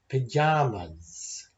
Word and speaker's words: pajamas: But two of those words have three syllables. Tomato. Pajamas. And it's important that we're not jumping over the second O or the second A. We say those letters as a long O and a sort of a shortened version of a normal A.